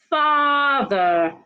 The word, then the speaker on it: father: not well feel off father not father father the letter a in father has a long R sound father let's go over